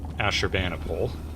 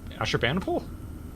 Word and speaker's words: Ashurbanipal: Uh we've got Asher Banipole.